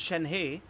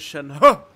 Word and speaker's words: Shenhe: mean yeah that's i i expected her to be pronounced shen hey and when i saw the trailer of her and she said that her name is shanhua the first thing i